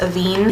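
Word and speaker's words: Avène: This is by, I think it's pronounced Avene.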